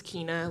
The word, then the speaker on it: Kina: My name is Kina like Tina with a K.